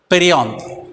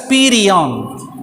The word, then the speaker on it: perianth: P-E-R-I, Perianth. We can pronounce this also as Perianth.